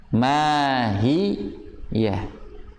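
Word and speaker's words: ما هيه: Mahiyah. Jadi hati-hati, jangan memanjangkan, efeknya seperti memanjangkan akhirnya masuk. Mahiyah. Samar tapi terdengar masuk. Mahiyah.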